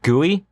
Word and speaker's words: GUI: Sometimes they're called guey and it's spelled GUI.